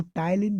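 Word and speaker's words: ptyalin: तो लार में जो एंजाइम होता है, बहुत ही इंपॉर्टेंट क्वेश्चन है, उसको हम टाइलिन बोलते हैं। PTALIN इसका स्पेलिंग्स होती है।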